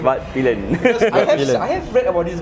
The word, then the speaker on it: Svartpilen: That's how we actually pronounce the name. Svartpilen.